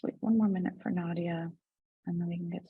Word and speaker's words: Nadieh: It's pronounced Nadieh.